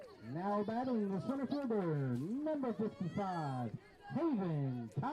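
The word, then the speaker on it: Haviin: so it's two i's and uh but it's pronounced Haven as she hits the ball over and it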